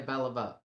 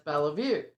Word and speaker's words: Beliveau: Um some southerners told her that no, she was pronouncing her name wrong and it's Belle Vue.